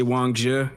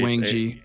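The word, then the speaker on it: Wang Zhi: uh Wang I it's it feels so wrong to say Wongja. And I know that's how you say it, but I blame Tekking. I can only say Wang G.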